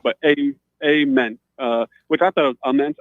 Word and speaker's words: Ament: Nate says it is Ament with the hard A, if that's even correct, but Ament.